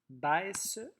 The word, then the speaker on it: baisse: Dans le premier mot, baisse, il faut absolument avoir les deux S, sinon on aurait un S qui fait Z entre deux voyelles.